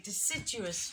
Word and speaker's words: deciduous: They're deciduous trees. Remember? Trees that lose their leaves. Evergreen are the trees that have their leaves all the way around through all seasons. Deciduous, 4 syllables.